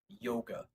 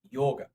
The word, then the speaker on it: yoga: United States we normally call it the word yoga yoga kind of like yogurt but with Ag